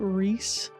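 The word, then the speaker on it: Ryis: I pronounce it Rias, but I've heard other people pronounce it Reese. I'm gonna say Rias.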